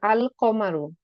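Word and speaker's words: القمর: আল কমারু। মানে লামের উচ্চারণ কিন্তু আমরা করছি। এখানে লামের উচ্চারণ করছি না।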